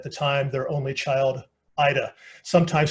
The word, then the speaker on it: Yda: time their only child Ida sometimes spelled I D a more often y da but still pronounced the same way Alfred had his own